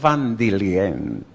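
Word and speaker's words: Waldinger: Bueno, el estudio, el último director del estudio se llama Robert Vandilien. Se escribe Wandinger, de origen alemán.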